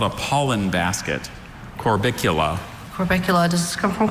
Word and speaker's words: Corbicula: Corbicula.